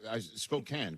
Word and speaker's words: Spokane: I said it right. Charles, right? Hey Rich, how's it going? Yeah, Spokane, correct? Right. Yeah.